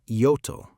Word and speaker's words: Ioto: The Japanese government renamed the island Ioto, a more correct pronunciation of the same characters.